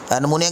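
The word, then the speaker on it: pneumonia: नमूनिया के स्पेलिंग में पी भी आता है, डी स्टूडेंट्स मैं आपको बताता चलूँ तो, लेकिन पढ़ना हमने इसको नमूनिया ही है, पी साइलेंट है।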